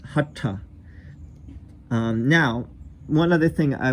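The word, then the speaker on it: हठ: We also talked, by the way, just one other word, hatha yoga, as opposed to hatha or hatha. It's hatha.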